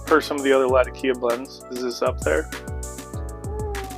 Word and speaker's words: Latakia: Something with tiki. Latakia. Yeah, there we go. Like a tiki torch. But not.